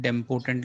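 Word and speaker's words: idempotent: तो इसको बोलते हैं डेम्पोटेंट लॉ, इसमें आई साइलेंट है, ठीक है?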